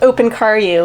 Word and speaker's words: Opincariu: be an ongoing joke it's pronounced open car you it's romanian nice okay so what